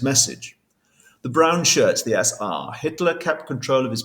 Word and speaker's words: SA: Hitler created the SA stormtroopers, otherwise known as the brown shirts or SR as you pronounce it in German.